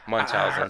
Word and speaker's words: Munchausen: do not know how to pronounce this word, Munchausen syndrome. Yes. Is that correct? Yes. That's where a parent would actually project an illness onto your child for sympathy. Oh. Munchausen syndrome.